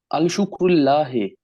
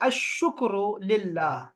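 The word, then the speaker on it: الشكر لله: अल शुक्र, अल शुक्रुल्लाह। इसको लाम यहाँ साइलेंट है, आपने कहना है अशुक्र लिल्लाह।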